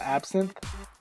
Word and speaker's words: Absinthe: this is a new software and it's called absin and I believe that's how you pronounce it so I'll leave the links down